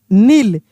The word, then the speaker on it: kneel: नील।